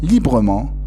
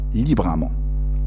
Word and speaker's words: librement: Mais attention, les adverbes qui se terminent par E-ment, un seul M, se prononce E-ment à la fin. Exemple, librement et non pas librement.